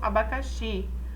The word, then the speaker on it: abacaxi: Por exemplo, abacaxi. Nós temos na palavra abacaxi o xi, a sílaba tônica, né?